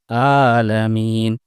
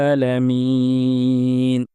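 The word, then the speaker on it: العالمين: এটা হামজা নয় কিন্তু আমরা অনেকেই আইনকে হামজা উচ্চারণ করে ফেলি আমরা বলে ফেলি আলামিন যেটি সম্পূর্ণ ভুল এবং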